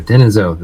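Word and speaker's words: Denisovan: Neanderthal and then Den denisen there we go denisen that's how you say it and that looks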